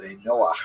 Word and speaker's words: Ben Noah: And this is basically a Hebrew term Ben Noah for or Ben Noah is the way Jews would pronounce it.